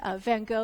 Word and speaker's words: Van Gogh: Facebook Live event, where I'm pronouncing Van Gogh using the American pronunciation.